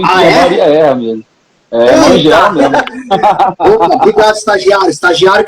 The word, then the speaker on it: Mangela: É Mangiela, né?